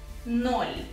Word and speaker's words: ноль: Ноль. So we can pronounce it like this. Yes, so this apostrophe means that you have to make the sound, the last sound, smoother, okay? So it's ноль.